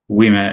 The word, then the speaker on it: Ouimet: Ouimet.